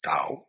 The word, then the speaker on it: Tao: Ching now the Dao the Ching Tao it's pronounced d but it's Dao Dao Ching the great way was um written